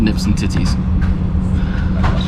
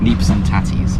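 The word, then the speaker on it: neeps and tatties: for the haers with nips and titties how it's pronounced but nips and titties neps and tatties it's got a Whiskey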